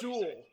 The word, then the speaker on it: Sewell: I think it's Sewell. Like Jewel. Yeah, Penei Sewell.